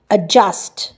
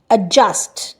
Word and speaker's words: adjust: তারপরে কি would not adjust, adjust, adjust না, adjust, ডি এর কোনো প্রোনাউন্সিয়েশন নেই।